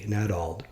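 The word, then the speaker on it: Nadauld: About 2 months later, I received a call from another church leader, Elder Stephen Nadald, I'll spell that, N-A-D-A-U-L-D, Nadald, who had recently been president of Weber State University and was now working for the church.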